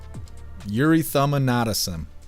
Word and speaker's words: erythema nodosum: And it's pronounced erythema nodosum. Erythema nodosum.